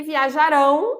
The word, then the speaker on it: viajarão: e viajarão. Ela é uma oxítona, onde o ão é mais forte.